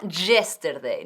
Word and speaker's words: yesterday: Yesterday, no yesterday, no. Yesterday. 3 sílabas. Yesterday.